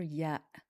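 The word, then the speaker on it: ي: This letter is pronounced as an e by default, similar to the sound in the word tree. When starting a word, it can also produce a y sound, like in the word yarn.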